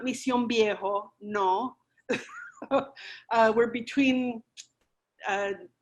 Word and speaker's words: Mission Viejo: little bedroom community called mission viejo and that's how you say it mission viejo not mission viejo no uh we're between